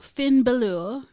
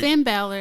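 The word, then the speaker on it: Finn Bálor: face gotta win um next up we've got finn baloo aj steels and liv morgan okay it's gonna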